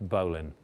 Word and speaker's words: bowline: bowling that's spelled bow line but it's always pronounced bowan well you could say that was true I